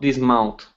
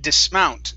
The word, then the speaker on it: dismount: Clyde continued smiling, but did not dismount. Okay, very good. Now that last word is pronounced dismount. The stress is on the end.